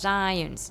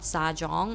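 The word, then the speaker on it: Zajonc: According to science, and the name, actually the last name is pronounced science, not Sajong, okay?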